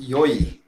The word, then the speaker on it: yoi: It's pronounced yoi. Y-O-I.